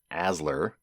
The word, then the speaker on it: ASLR: randomization is third round or aslr pronounced asler and we'll define what